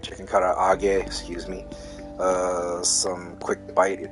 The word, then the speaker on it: karaage: Whether it's chicken yakitori, even chicken karaage, or you know, it's karaage, not karage. Well, it's in Americanized as karage, but it's karaage because of that extra A.